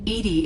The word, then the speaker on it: EDI: airlock is a job why are you named edie edie is the phonetic pronunciation of edi my core intelligence is housed